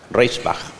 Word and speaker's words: Reichenbach: que se llama Hans Reichenbach, ¿no? Se escribe como María Reich, pero le agregamos como el compositor Bach, Reichenbach. Él escribió un libro que se llamó Experiencia y Predicción.